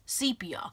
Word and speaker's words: sepia: in a sepia tone I used to say sepia for a long time but one day I decided to look up and it has absolutely pronounced sepia with a long e sepia and then I also